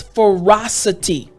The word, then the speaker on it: ferocity: You understand that it means savage cruelty, but the word again is ferocity. Ferocity. Now, it's not really difficult to pronounce this word, but I just want to go over the last portion of the word.